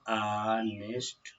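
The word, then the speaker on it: honest: कुछ एग्जाम्पल देख लेते हैं हमारा, जैसे देखिए ये दिया है ऑनेस्ट, इसको हम लोग पढ़ेंगे, इसका उच्चारण क्या होगा? आनेस्ट।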